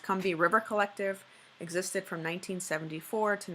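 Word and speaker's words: Combahee: so the conbini are I guess it's pronounced convey River collective existed from 1974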